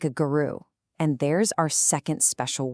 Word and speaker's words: guru: He treated Krishna like a guru, and there's our second special word. It's pronounced guru.